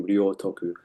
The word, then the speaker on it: Ryōtoku: me her part the Rio a I became Rio Toku. So it became complete complete virtue. And thank you for pronouncing that name as well because I was not quite sure exactly how to pronounce your name.